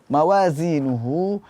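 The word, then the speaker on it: موازينه: at nah faammaqulat mawazinuh mawazinuhu biasanya ee di sini Terjadi kesalahan tertukarnya pengucapan huruf Zai huruf ZA dengan huruf dza Mawa dzi Dal yang ada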